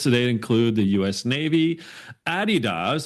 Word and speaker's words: Adidas: Navy, Adidas, that's how you say it properly, DocuSign, TD Bank, and Manulife.